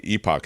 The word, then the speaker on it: epoch: on the epoch thing e-p-o-c-h I say Epoch that's the way the word is said and apparently either Epoch or epoch you can say epic and but epic I did is not no unacceptable it's Puck like like a hockey yeah puck right epic epic right so epic is a um uh is